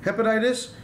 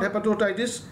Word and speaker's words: hepatitis: Yeah siddiki has written hepatitis suti bangare hepatitis it's not hepattoitis it's hepatitis so hepatitis is ar